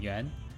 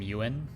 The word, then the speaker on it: Yuan: But if you want to pronounce it correctly, it's you win, but like pronounce it as like 1 syllable, yuan.